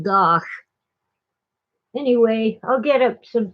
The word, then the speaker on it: van Gogh: night Vincent van gosh I know we call him van Gogh but he pronounced it goth anyway I'll get up